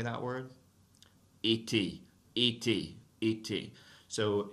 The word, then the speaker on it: été: Été, été, été. So if you have a final E that has an accent mark on it like that, you do have to pronounce that E, right?